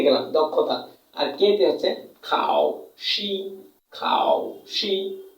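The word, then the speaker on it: 考试: দক্ষতা আর কেতে হচ্ছে খাওশি খাওশি এই টোনটার হচ্ছে থার্ড টন এই টনটা হচ্ছে ফোর টন তাহলে উচ্চারণ করব খাও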